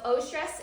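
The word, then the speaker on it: eustress: So O-stress is helpful. It's spelled EU stress.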